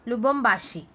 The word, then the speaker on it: Lubumbashi: And how will you pronounce it? Lubumbashi.